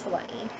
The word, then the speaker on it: Hawaii: when I was i I moved to Hawaii or Hawaii depends where you are correct pronunciation is Hawaii and what I remember